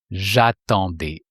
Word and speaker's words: j'attendais: J'attendais.